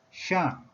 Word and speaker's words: 丄: Chinese pronunciation is shàng. Shàng. Having number 4 tone value.